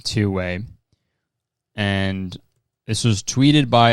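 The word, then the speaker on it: 2wai: So there's a company called Two Way, which is spelled two, like the number 2, WAI, Two Way.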